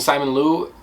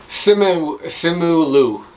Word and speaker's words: Simu Liu: But for me, the chemistry between Awkwafina and Simon Liu, I don't know if you guys catch my vibe with that, but like for me, Simu Liu. That's how you say his name.